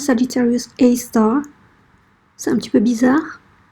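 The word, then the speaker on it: Sagittarius A*: Donc la science, comment la science appelle ça, c'est Sagittarius A, mais le prononce Sagittarius A star.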